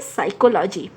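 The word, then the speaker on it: psychology: पैथोलॉजी नहीं बोलते हैं, हम क्या बोलते हैं, साइकोलॉजी, पी यहाँ पे साइलेंट है।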